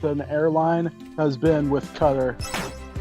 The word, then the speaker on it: Qatar: I'll say the best experience I've had with an airline has been with Qatar. Cutter? Yeah, Qatar. Oh. Qatar. Mm. There's like multiple ways you can pronounce it.